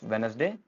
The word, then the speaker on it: Wednesday: Next है हमारे पास वेडनेसडे वेडनेसडे D silent है।